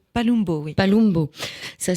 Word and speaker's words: Palumbo: Palumbo, oui. Palumbo. Ça s'écrit avec un U, mais ça se prononce...